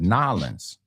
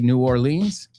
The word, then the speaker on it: New Orleans: So, but again, the when I was there, I didn't even hear New Orleans. I heard Nolens. Again, they must know how to say their own city.